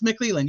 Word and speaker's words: McLeland: know what it is is it mcland or Mand I call him meland it's mcleland yeah you said it right oh okay she must